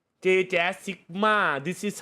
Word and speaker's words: Jaz: Mickey Mouse yeah man JAZ อ่านว่าจัสหรือแจ๊สครับถ้าชื่อเล่นจัสอ่านว่าจัสแต่ในวงการอ่านว่า JJaz ครับอ่านอย่างนี้ครับผม JJaz Sigma this is how